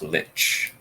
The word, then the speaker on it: lich: undead look toward it lick I never asked one never met one uh there have I I've always pronounced Lich give it that Soft C as opposed to the hard C if we're done investigating